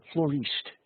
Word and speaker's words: Florist: every year is from flor florist as they pronounce it uh the dutch uh